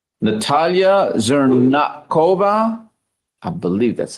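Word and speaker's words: Zhernakova: Natalia Zernova. I believe that's how you pronounce it. Good morning, ma'am. How do you pronounce your last name? Zerakova. Zernakova.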